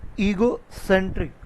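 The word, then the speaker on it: egocentric: ठीक है ना, सबसे पहले प्रोनाउंसिएशन है ईगोसेंट्रिक। ठीक है ना, ईगो, ई पे स्ट्रेस देना, ईगो, गो पूरा नहीं बोला, ईगो सेंट्रिक।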